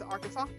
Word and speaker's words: Arkansas: Arkansas or Arkansas, depends on who you ask, right? I'm pretty sure the correct pronunciation is Arkansas.